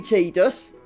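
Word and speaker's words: Tidus: me yet I'd us he's actually teed us that is his cannon pronunciation but it was always tied us to me yeah that's helpful Kaido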